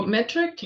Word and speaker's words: METRC: So metric, and that's spelled METRC, metric without the I.